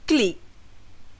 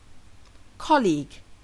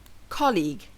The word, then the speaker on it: colleague: C amama for example the correct pronunciation of the word has two syllables not one and the Dr falls on the first syllable colleague colleague this is my colleague